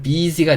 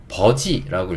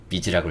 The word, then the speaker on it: busy: 제가 학원에서 아이들 가르칠 때 어떤 아이가 이 단어를 버지라고 읽었어요. 버지. 예, 왜 그렇게 읽었을까요? 이 U가 어소리 난다는 걸 알았던 거예요. 하지만 이 단어를 원어민들은 절대 버즈라고 읽지 않습니다. 네, 비즈라고 읽어요.